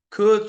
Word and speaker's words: could: the the the L so the L is silent and it sounds something like this okay it sounds something like this it sounds something like this okay could should and would that's